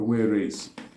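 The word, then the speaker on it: warese: Pigeon in Igbo is called weresi. Weresi. Weresi is spelled as W-A-R-E-S-E.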